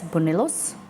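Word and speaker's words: buñuelos: B-U-N-U-E-L-O-S, bonellos.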